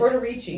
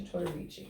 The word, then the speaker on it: Tortorici: Tortorici. Yeah. Did I say it right? Yes. Okay, Tortorici.